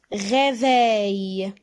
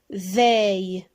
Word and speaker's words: réveil: Réveil. Réveil. Encore deux syllabes. Et le son ei dans la deuxième syllabe.